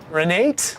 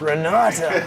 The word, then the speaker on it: Renata: That's probably it, right? Renate? No, it's Renata. Renate. Renate.